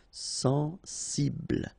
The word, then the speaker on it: sensible: Okay, final E not pronounced. Bl will be the last sound. Sensible.